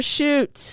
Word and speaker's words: Schuett: shoots badass Jennifer shoot and it's not s-h-o-o-t like that's why I tried to Google that's why I didn't spell it for you I know so rude but s-c-h-u-e-t-t is her name she still lives in